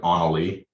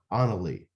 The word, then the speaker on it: Annalie: Anna, like Annalie. Annalie. Yep. Okay. Like So- Frozen, Anna and Frozen.